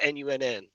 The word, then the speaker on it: Nun: And they spell it Nunn, but it's really Nun, None.